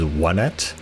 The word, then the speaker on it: Onett: ever since Smash Brothers, I called the place Onett. However, after playing this game, I believe the correct pronunciation is Onett, because I didn't connect that the towns in this game are Onett, Tucson, Threed, and Fourside. And when I knew Fourside